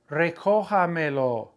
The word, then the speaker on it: Recójamelo: Recójamelo. Where's that accent mark going to end up? Recójamelo. On the O, whether you add one or two.